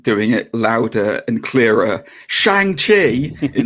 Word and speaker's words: Shang-Chi: Shang-Chi. It is Shang-Chi.